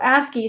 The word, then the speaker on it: ASCII: or ascii table so ascii stands for the american standard code for information interchange and we just pronounce it ascii it's an acronym um and so if